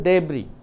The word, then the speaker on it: debris: It is S last pronunciation varadu, debris.